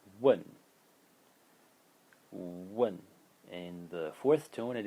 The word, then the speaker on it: 问: is a very simple character which uh is pronounced one one and the fourth tone and it means to